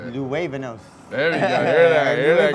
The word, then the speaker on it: Luevanos: Luevanos.